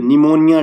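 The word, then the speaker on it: pneumonia: बच्चों यह वाला वर्ल्ड निमोनिया डेट और आपको इसकी स्पेलिंग भी याद रखना क्योंकि इंग्लिश में भी क्वेश्चन बन जाता है निमोनिया की स्पेलिंग क्या है पी लगा है पी है साइलेंट ठीक है तो यहां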